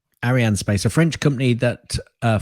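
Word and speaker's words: Arianespace: the name of it it's Arianne spice that's all it is Ariane space a French company that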